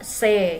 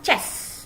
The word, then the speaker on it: c'est: Ini C dibacanya C ya, bukan chess ya, bukan chess, tapi C. C'est ton sac.